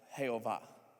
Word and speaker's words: Jehovah: And the way you would pronounce it in Hebrew or in English, if you were trying to kind of give a phonetical thing, it would be, sound something like Jehovah.